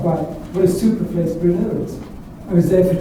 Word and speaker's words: Brno: Because I didn't know if it was a Barno or Bruno or Borno or it's not. You say Brno, it's the second city of the Czech Republic.